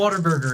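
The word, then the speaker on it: Whataburger: Also, because they pronounce it waterburger.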